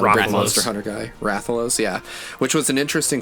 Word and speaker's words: Rathalos: Like Duck Hunt Dog fights, how do you say it, Rathalos? I'm not a big Monster Hunter guy. Rathalos, yeah.